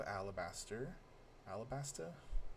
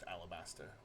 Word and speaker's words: Alabasta: So Vivi is the princess of Alabaster. Alabaster? How do I pronounce that? There's no R at the end. It's just Alabasta.